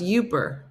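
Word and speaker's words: Yooper: the toilet I can't is pronounced yuper yuper is that is is that like upper peninsula where did I why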